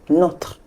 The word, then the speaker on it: nos: in French we use not not for both the feminine and the masculine singular and for the plural we use please know the S is silent okay it's not n